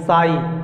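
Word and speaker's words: sigh: लेकिन एक ट्रिक बताए कि GH हमेशा साइलेंट होता है, यानी HI यहीं तक साउंड होता है। HI हाई, THI Thai, SI साई, GH हर वर्ड में साइलेंट है।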